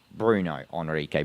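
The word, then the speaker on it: Bruno Henrique: My bad if I said his name wrong. It's Bruno Hrique.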